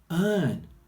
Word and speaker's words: earn: Then we've got earn. One day I would like to earn some money. Earn. So you can hear the sound at the beginning here. N.